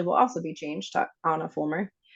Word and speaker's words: Ahna Fulmer: So my Instagram is Ahna Fulmer. Yes, like the Frozen princess, but not spelled like her. So it is AHNA FULM as in mom, ER, Ahna Fulmer.